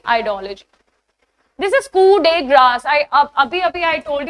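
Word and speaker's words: coup de grâce: This is कू day grass. आई अब अभी-अभी I told you इट्स Koo. Right? Koo day grass.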